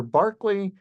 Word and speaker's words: Berkeley: know them for certain by the way Berkeley California is named after Barkley even though it's pronounced differently just to put you